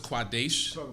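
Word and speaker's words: קָדֵשׁ: you also have the word quadesh when you pronounce it as quadesh it means male temper prostitute when you say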